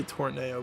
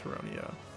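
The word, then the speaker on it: Tauroneo: I used to say Tornado, but it's definitely Terrrono.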